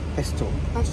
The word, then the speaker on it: Pashto: Can you pronounce it properly? Pashto.